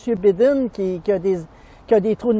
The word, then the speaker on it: Biden: viens-tu de la série Joe Bidon au Oui, Québec? les enquêtes de Joe Bidon. Ben oui, Joe Bidon, c'est Joe Biden. Ben, on le prononce habituellement Biden, pas Bidon.